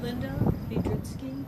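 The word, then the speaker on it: Lynda Biedrzycki: seated could you please state your name and spell it for the record Linda vitki l y n d a b i e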